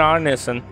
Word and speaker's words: Arneson: Oh, I was right in the pronunciation. It is Mr. Arneson.